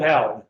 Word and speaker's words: Halley: All right, we'll go with Hallie. Hallie, whatever his name was. We say Haley, in Great Britain, they say Hallie. Okay, but we'll say Hallie then.